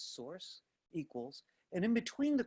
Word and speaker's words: src: Notice it says source, that's how this is pronounced, SRC is source, equals, and in between the quotes, it first says, go to my images folder.